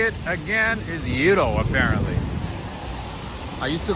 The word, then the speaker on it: gyro: somebody said no it's gairo and then some other person said no the proper way to say it is yuro i guess greeks call it hito good morning to you